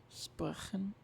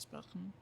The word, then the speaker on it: sprechen: And like that, sprechen, it's like after E, so it's soft.